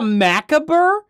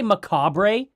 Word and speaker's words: macabre: Oh, she called it a maabur. That's how she pronounced. So, she didn't just say macabre. A maabr. Oh my gosh. How do you not just read it out as macabre?